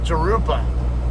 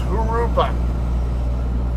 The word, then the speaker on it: Jurupa: pronounce this uh Street Jurupa or this or the name of the town Jurupa Valley and it's no it's not how you pronounce it it's gurupa J's are pronounced like an H in Spanish that's a Spanish word